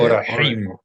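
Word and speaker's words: אורחים: How you say Orahim. Orahim. It's a het.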